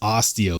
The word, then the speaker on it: Astio: guy this is the bag knives Osteo that's spelled a-s-t-i-o now this knife is